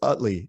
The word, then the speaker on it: Utley: one and only youthley I hope I'm pronouncing your last name right you're doing great it's Utley Utley Utley okay Utley he's